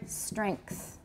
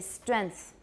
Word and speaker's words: strength: but i don't because that's an ng as far as i'm concerned it really should be velar so strength to me